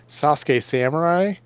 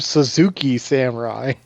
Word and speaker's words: Sasuke Samurai: So there was a Yu-Gi-Oh card that is pronounced. It's supposed to be Sasuke Samurai, but everybody around here, because like we didn't know what the fuck how to pronounce it, so we called him Suzuki Samurai.